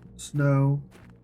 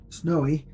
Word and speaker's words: Snowe: YouTube is also our snow with an e at the end the E is silent I just say ars